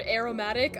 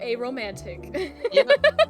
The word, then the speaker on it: aromatic: Every time I see the word aromatic, I go aromantic. Yep, that's how I pronounced it. Just for that N.